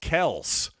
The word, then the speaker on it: Kelce: Remember when Travis Kelce said a couple years ago that, actually it's pronounced Kels, and we all collectively decided, too late, Travis.